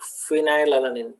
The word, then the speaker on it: phenylalanine: dna solution phenylalanine so pronunciation goes like phenylalanine that's why f okay then tryptophan so